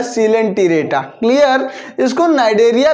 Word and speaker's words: Coelenterata: सी ओ ई एल को सी पढ़ा जाएगा और एल ई एन को लेन, और इसको टी रेटा पढ़ेंगे, तो आपको स्पेलिंग में कोई मिस्टेक कभी नहीं होगी। इसको पढ़ा जाएगा सिलेंट्रेटा, क्लियर?